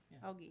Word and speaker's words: Hauge: Augie.